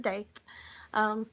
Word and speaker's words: Daith: So this is my Daith, or Doth, however you want to pronounce it. I pronounce it Daith.